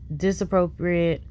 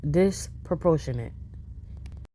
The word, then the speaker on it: disproportionate: because the response is disappropriate to the mistake but like do your thing internet y'all already ain't like me this ain't nothing new y'all butchered that word is disproportionate okay and then she